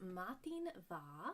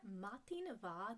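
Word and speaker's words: madainn mhath: It's just matin va. So believe it or not, the way you pronounce that, matin va, the M and the H make a V sound.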